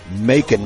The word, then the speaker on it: Macon: Homegrown and produced right here in Mississippi, Macon, Mississippi. Any town that rhymes with bacon is beautiful to me.